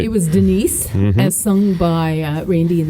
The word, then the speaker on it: Denis: So we've got Denis, which I guess is Dennis, but rather than make it Dennis, hey, I dig you, Dennis. Yeah, right. Denis, the French pronunciation of Dennis, and masculine form of